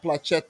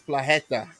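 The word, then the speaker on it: Płacheta: too but it's pronounced it's not pluchetta it's plageta yeah i don't know that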